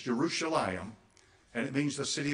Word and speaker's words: Jerusalem: it by the way they around here say Jerusalem but that's not the way it's pronounced it's jeruselam and it means the city of Peace okay